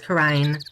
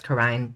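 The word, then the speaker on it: Kurain: Quran I know it's Karine I'm gonna pronounce it Korean partially because quite a few people actually call it Karen so yeah I'm gonna call it coren even though I know it's korane just for uh easier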